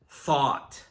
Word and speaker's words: thought: Now let's look at thought. This is the past tense of think, and it's pronounced similarly to taught, but it begins with the sound.